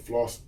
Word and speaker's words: Phalos: thing is my my my name is spelled floss floss p h a l o s my name is short